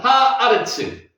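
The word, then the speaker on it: הארץ: 에르츠가 앞에 있는 하 때문에 하아. 아로 바되는 겁니다. 하아레츠.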